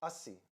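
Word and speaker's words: Assi: Asi. Asi to see, like Asi. Asi to see, Asi to Asi, see.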